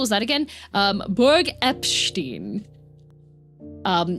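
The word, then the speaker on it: Eppstein: Um, Berg Epstein. Um, it's it's spelled like Epstein but with two P's.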